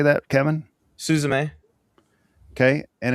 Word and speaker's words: Suzume: Suzume.